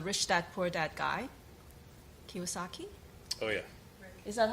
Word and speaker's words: Kiyosaki: Yeah, one day I was browsing at a bookstore and I saw a book written by the Rich Dad Poor Dad guy, Kiyosaki.